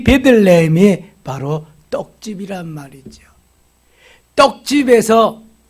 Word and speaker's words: 베들레헴: 벳이라고 하는 것이 집이고 레헴이라는 말이 떡이라는 말이에요. 그래서 떡집, 벳레헴 발음하다가 보니까 베들레헴 된 거예요.